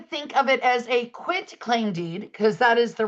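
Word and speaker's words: quitclaim: Then the third type of deed I want to highlight is a quit claim deed, not quick claim deed.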